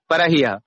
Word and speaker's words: परह्यः: ह्यः उसको ऐसे जोर से नहीं बोलना है, परह्यः सामान्य परह्यः प्रपरह्यः।